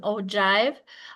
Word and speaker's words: ogive: These are called an ojive. So if you want to think of how you pronounce it, it's like with a ji ve. So like with a long i. So it's an ojive.